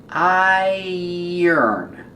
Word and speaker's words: iron: Iron. It has the sound like tire and fire and drier.